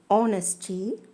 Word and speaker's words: honesty: Especially her words that begins with H, the consonant. So, all these words, air, honesty, hourly, all these words are voiced as though they begin with vowel.